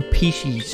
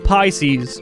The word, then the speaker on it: Pisces: Right, let's do pieces. How do you say this? Pissies? Pieces? Yeah, new sublets are online. Pissies? Pieces? Pisces.